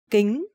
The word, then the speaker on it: kính: Kính. Eyeglasses. Kính. Kính is sunglasses, and in Vietnamese, the consonant K and C pronounce exactly the same.